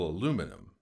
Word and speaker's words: aluminum: The correct one is still aluminum. It was then changed to aluminium.